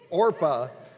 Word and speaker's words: Orpah: the two women were ruth and orpah not oprah she's got the talk show it's orpha married orpah and and